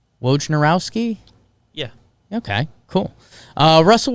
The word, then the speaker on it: Wojnarowski: dear friend adrian wojnarowski i say it right wojnarowski yeah okay cool uh russell westbrook for john